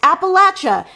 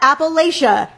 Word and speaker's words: Appalachia: fake or exaggerated also it's pronounced Appalachia not Appalachia Jesus Christ maybe it's